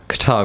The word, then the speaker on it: Qatar: It's the Qatar Grand Prix.